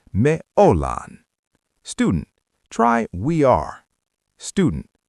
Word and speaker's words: ollaan: We use the we word, me, but we use a verb ending that sounds like lan. We are becomes me ollaan.